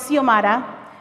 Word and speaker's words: Xiomara: so first of all my name is seal Mata my ex is like an S and every syllable is